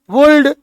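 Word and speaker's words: would: हैं शुड एल का उच्चारण है आ का उच्चारण कर दो शुड कुड वुड तो कहेंगे एरर है आप इसको कहते हैं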